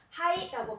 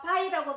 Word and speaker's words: 肺: 그래서 음독은 하이라고 발음을 합니다.